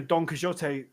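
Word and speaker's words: Don Quixote: Um, well, it's a donote or donote or donquixot or you know, if you want to pronounce it in Argentinian Spanish, mainland Spanish or in the English way.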